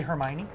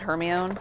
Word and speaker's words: Hermione: not but I have I know how to say Hermione there you go it's not her my own I know about the